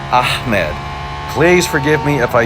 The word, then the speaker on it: Ahmed: you just can't anyhow the more proper way to pronounce that in arabic would be ahmed so not with a k is what i've heard not ahmed but ahmed please forgive me if